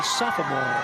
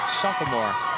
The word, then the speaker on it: sophomore: you said that the sophomore sophomore some people put that extra syllable in I typically don't but that time I chose to why I don't know public address announcers typically put that there hey sophomore 6 foot6